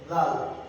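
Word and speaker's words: ذ: তো এখন ডালের উপরে যদি একটা নুক্তা দেওয়া হয় এটার নাম হবে জাল। জাল ওই যে সা যেমন ভাবে উচ্চারণ করেছি, জালরা ওভাবে উচ্চারণ, যেমন জিহ্বা দিয়ে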